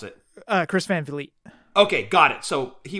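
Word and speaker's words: Van Vliet: is it Vliet I wasn't sure how to pronounce it uh Chris Van Fleet okay got it so he was doing an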